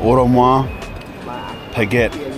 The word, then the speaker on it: Audemars Piguet: Audemars Piguet.